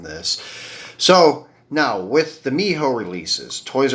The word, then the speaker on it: Mijo: I always thought it was Mijo, but he did tell me Miho, and then after watching some Lamley videos, I did find out it's Miho.